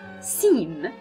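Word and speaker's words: سين: is like this then we have seen seen is like an else in English so it is and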